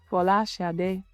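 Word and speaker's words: Folasade: and my name is my true Nigerian name, or the true Nigerian pronunciation, or as close as I can get to it, is Fola Shade, which means crowning glory.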